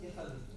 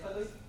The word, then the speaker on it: Iqaluit: In Inuit, Iqaluit is pronounced Iqaluit. Can you guys say Iqaluit? If we have any Arabic speakers or an Arabic background, I feel like it's going to come easier to you because we use similar noises in our language.